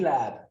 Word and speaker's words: larb: How do you say lab, Tara? Lab. Lab. It's kind of a lab with a silent R.